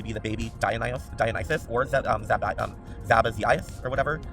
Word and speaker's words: Sabazius: the baby Dionysus, or Zabazias, or whatever. Zabazias? The Sabazias. Which is that? Sabazias, or... Oh, I pronounce it Sabazius. Sabazius. We'll go with Sabazius.